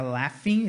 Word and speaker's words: laughing: A pronúncia aqui é laughing, esse GH tem um som de F, tá?